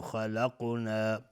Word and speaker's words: خلقنا: کثیر ممن خلقنا، و میم مشدد دو حرکت غنه میدیم. ممن خلقنا، نون ساکن بهش خا اظهار حلقی. خلقنا، خا از حروف استعلاء غلیظ تلفظ میشه.